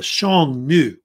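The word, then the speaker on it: Xiongnu: a group called The Shong new which uh the pronunciation of it is um I think I put it somewhere thought yeah right here Shong and then new basically they're like a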